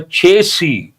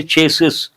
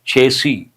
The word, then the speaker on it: chassis: But the fact is that only the engine and the chasey usually people mispronounce. They say chases. Chases is not correct. Second S is silent. Chasey.